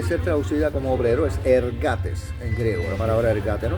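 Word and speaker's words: ἐργάτης: Entonces dice que la palabra ah obrero en el griego, esta palabra que se fue traducida obrero se dice se pronuncia ergates. E r g a t e s.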